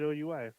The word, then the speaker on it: oui: like to say we like it's not it's spelled like w-i or w-e-w-e it's oui like when I what I learned that I